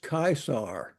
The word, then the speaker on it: Caesar: from a historical perspective Julius Caesar or let's pronounced kaisar I don't know how they get Caesar out of that 46 to 44